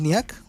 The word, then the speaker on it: Niak: We have now Niak, I believe it's pronounced Niak, right? On the name? Yeah, just like that.